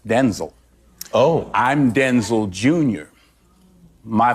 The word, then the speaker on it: Denzel: My name's pronounced Denzel.